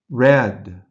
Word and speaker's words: read: read read past tense red red notice read and read are spelled the same number seven watch watch